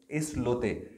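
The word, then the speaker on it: Islote: अच्छा, इसका ना मैंने प्रोनाउंसिएशन बाकायदा चेक किया था। अच्छा, हाँ, मैंने कहा ये आई लॉट ना हो, स्पेनिश वर्ड है और ये इस लोते ही बोला जाएगा, इस लोते, इस लोते, इस लोते।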